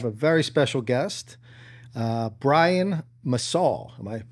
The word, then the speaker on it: Massoll: Today we have a very special guest, Brian Massoll. Am I pronouncing that correctly?